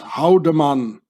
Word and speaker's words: Haldimann: In Swiss German, you pronounce this Haldemann.